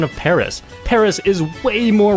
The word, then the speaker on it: Paris: And even then, like, why don't you just correct me on my pronunciation of Paris?